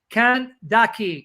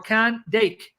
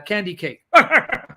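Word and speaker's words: Candace: the treasury of the candice can daki or can dake candy cave everyone pronounce it like it's uh candy cake stop it which means queen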